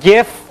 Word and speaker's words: GIF: know a both a gif or gif format some people say jiff even though the G stands for graphics over here which is kind of a hard G and then jpg which